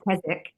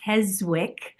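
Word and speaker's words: Keswick: Um, not to mention Kzwick is a English word and they pronounce it Kzik. So it's taken my husband all of six years to say Kzwick when his friends go Kzik.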